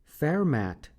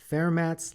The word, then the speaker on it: Fermat: Fermat is most likely the correct pronunciation of this mathematician's last name, since he was from France.